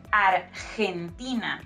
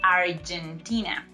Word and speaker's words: Argentina: I like number three Argentina remember that that letter g in Spanish sounds like H when it goes before letter e and letter e like in this case so we say Argentina not Argentina and she is wearing